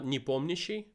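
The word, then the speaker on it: Nepomniachtchi: in russian when you when you when you pronounce it it's like uh uh nipomnishi so it's like that's right that's right that's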